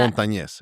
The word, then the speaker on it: Montanez: Montanez, Montanez. Okay. I because know most people say, it's a mouthful. Montanez.